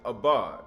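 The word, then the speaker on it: אבד: That word for destroys is abad, right? It's not a bod.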